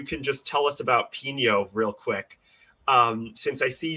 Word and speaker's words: Pino: But his name is Pino, correct? Yes, with an accent on the end.